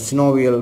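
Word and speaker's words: synovial: அப்போ இதை நாங்கள் சினோவியல் ஃப்ளூயிடுன்னு சொல்லலாம், அல்லது சில பேர் சைனோவியல் ஃப்ளூயிடுன்னு உச்சரிப்பிடும்.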